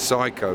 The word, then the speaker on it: Seiko: a look at it the company's name is Seco although the Austrian seem to pronounced it's psycho which is a bit strange but yeah but like Seiko watches spelled the same Chico Seco flow control